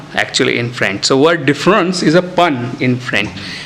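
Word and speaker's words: différance: Now as we are speaking, let us use a French pronunciation to signify difference with A. So difference.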